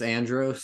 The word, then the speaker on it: Andros: audiobook it's Andros. That's how they pronounce it.